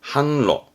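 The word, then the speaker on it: 販路: 발음은 한바위 함바이 판로 물건을 파는 팔로겠죠 팔로입니다 발음은 한로 한로 통짜죠 통 통판 발음은 쯔항 쯔항 통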